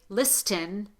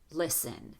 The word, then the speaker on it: listen: We don't say listen, we say listen. The T is not pronounced.